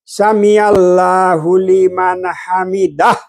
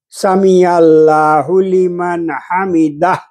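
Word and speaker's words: سمع الله لمن حمده: ভাইকে আমি দেখেছি যে রুকু থেকে উঠে বলে সামি আল্লাহু লিমান হামিদাহ এভাবে বলবে তাহলে আমি ওখান থেকে শিখি আমি ওখান থেকে শিখি এটাই শুদ্ধ আমি নিজেকে ওভাবে আমি পড়ি। সামি আল্লাহু লিমান হামিদাহ।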